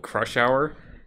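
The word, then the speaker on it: Crush Hauer: to crush things, and he's called Crush Hour. Yeah. Spelled Hauer. Right, that's how it's spelled. Yeah, something like that. Like German, like Crush Hour.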